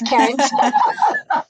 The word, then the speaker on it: Karent: My name is spelled a little differently, so it's Karen with a T. I'm not the regular Karen. My name is Karent.